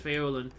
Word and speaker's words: Faolan: give up um i just pronounce this following it's irish irish feolin it means little wolf